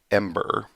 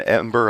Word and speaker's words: Em8er: And then creator of Ember, I believe that's how it's pronounced.